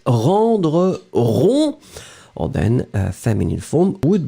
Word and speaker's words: rond: So look, in fact, yes, it's rendre rond. Or then feminine form would be ronde. D'accord? Remember, in that case, masculine final D is not pronounced.